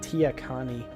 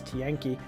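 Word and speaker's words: Tiyanki: Con Thien ki tienkie I always pronounce it in my head Tia Connie but that's not what it is at all is tienkie our docile creatures capable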